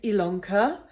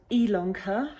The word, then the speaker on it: Ilonka: My name is Ilonka. Yes, it's called Ilonka. It's spelled with an I, but actually pronounced with an E, and so that's why it's called Stitch-Ilonka.